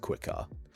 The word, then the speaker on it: quar: This this uh symbol is like a W. So it's pronounced quar.